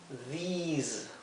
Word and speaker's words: these: Aquí lo he transcrito con doble I, a these, porque quiero que se pronuncie como una I larga, these, ¿ok? Mientras que este es una I corta, this.